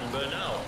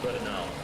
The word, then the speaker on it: Bernal: Uh, another one was in English you would pronounce it and just look at it and say Bernal. It's Egon Bernal and it's a